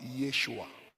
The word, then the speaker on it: Yeshua: open your eyes in Hebrew is being pronounced as Yeshua Yeshua and the word Yeshua pronounce in English word as Joshua not Jesus as Joshua Yeshua please google